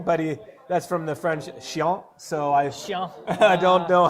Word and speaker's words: chiant: that's from the French chiant, so I don't know how to trend. It's chiant. You have to pronounce that with a bit of feeling. Chiant.